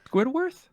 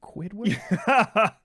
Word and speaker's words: Squidward: Squidworth? Squidward?